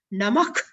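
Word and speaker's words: नमः: So we have to pronounce while chanting Namak Kalaya.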